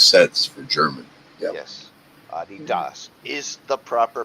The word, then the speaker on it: Adidas: Adidas is the proper pronunciation.